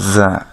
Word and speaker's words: ز: এদের মাখরাজ বা উচ্চারণ স্থান হচ্ছে আপনার জিহ্বার আগা, সেটা সামনের নিচের দাঁতের গোড়া অথবা মাঝখানের সাথে লেগে উচ্চারিত হবে।